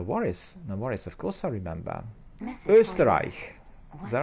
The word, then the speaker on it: Österreich: Österreich. Is that right? Österreich. Österreich.